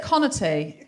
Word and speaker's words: Conaty: Is it Conaty? It's Conaty. Like comedy.